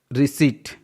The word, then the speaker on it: receipt: ज़्यादातर, जनरली मतलब ज़्यादातर ऐसा होता है कि जब किसी वर्ड में PS, PN एंड PT first में रहे तो वो साइलेंट होते हैं। रिसीट, रिसीट मतलब होता है जब हम कुछ सामान